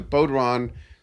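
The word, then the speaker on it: bodhrán: I even persuaded Scott to add some, I forget how that's pronounced, a bodhran?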